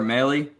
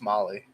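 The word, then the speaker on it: Mahle: second trade was for tyler maylie i don't know if i'm pronouncing that correctly is it melee i think it's molly tyler molly yeah tyler marley is a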